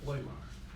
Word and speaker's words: Lahmeyer: So our next citizen is Ms. Laymire. And I probably butchered the last name, so you'll correct me. Very good. Most people don't say it correctly, so thank you. Thank you. State for the record your name and where you're from. Peg Laymire, Lahmeyer.